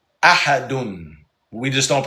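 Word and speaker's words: أحد: It's Qul huwallahu ahadun.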